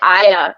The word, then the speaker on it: Aya: It's actually Aya.